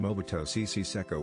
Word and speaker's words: Mobutu Sese Seko: I've always just heard Mobutu Sese Seko, which is easy to remember because it rhymes with Jose Canseco.